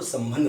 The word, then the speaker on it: संबंध: इसको जब बच्चा उच्चारण करता है तो इसको संबंध बोलता है। अब यहाँ जब स के बाद में इस अनुस्वार को वो म बोलता है और ब के बाद